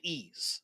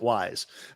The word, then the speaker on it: Ys: haven't played called called Ease, YS. It's funny you say that. The developers actually mentioned that game as well. Really? Zelda and I pronounce it wise, but yeah, ease.